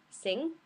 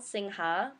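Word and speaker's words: Singha: the local or the national beers are sing it's spelled sinha but you say otherwise you look like a tourist um chong which means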